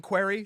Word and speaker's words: Querrey: two r's right sam querrey he was i believe u-e-r-r-e-y okay all right i knew it was a different it was the same pronunciation correct but i knew it